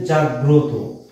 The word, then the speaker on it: জাগ্রত: তার উচ্চারণটা স্বাভাবিক হবে, এই জন্য সন্ধ্যা। সন্ধ্যা। তারপরে কি আছে? জাগ্রত।